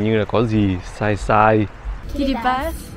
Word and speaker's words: Kiribati: Kiribati. Kiribati. Not Kiribati. Kiribati. Like T-I is pronounced C.